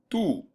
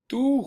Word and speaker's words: tú: When I'm saying your and I'm writing it, it doesn't have an accent. But other than that, it's pronounced exactly the same. Tú juegas fútbol con, if